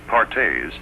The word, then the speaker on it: Perthes: doctors another crippling disease known as Perthes pronounced pares was the demoralizing ailment that brought this little